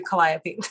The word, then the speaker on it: Calliope: got it right for this time thank you calliope and either star yes starry night or starry